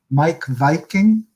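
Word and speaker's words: Meik Wiking: that some people may know his name is mike viking although it doesn't look like it's pronounced that way he's um he's from denmark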